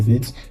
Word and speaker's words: Vite: So how do we get started in VIT?